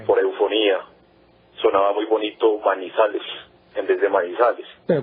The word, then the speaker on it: Manizales: varias quebradas con piedras de maní, le llamó Manizales.